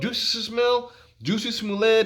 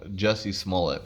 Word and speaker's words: Jussie Smollett: With all this stuff going on, Juicy Smollett, the NASCAR situation. I keep saying his name wrong. Jussie Smollett. That's how you say his name.